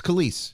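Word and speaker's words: Kelis: say Kellis is it kiss or is it Kellis or the the artist yeah it's kise mil milkshake yeah k is this K that's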